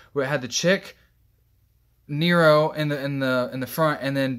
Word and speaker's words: Nero: Nero. N-E-R-O. They spell it like hero, but with an N.